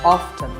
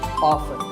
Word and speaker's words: often: some pronounce this as often now strictly speaking often is not wrong but the more common pronunciation is with the T silent so I recommend that you always say often one word that's often